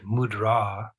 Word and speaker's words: mudra: means in this context the word mudra the emphasis goes on the second syllable it means seal and